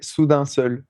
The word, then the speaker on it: Soudain Seul: all so different like sudane Soul how how do you say that by the way I'm sure I'm saying it wrong we say Sudan Soul Sudan soul okay um yeah I